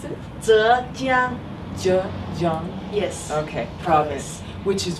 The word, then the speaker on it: Zhejiang: So how do you pronounce it? Zhejiang. Zhejiang.